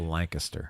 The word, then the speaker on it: Lancaster: We Oh, I pronounce forgot. it Lancaster.